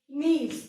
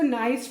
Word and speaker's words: niece: और nephew का जो opposite gender है that is niece. NIECE, niece. बहुत सारे बच्चे इसको nice pronounce करते. No, remember NIECE is pronounced as niece, not nice.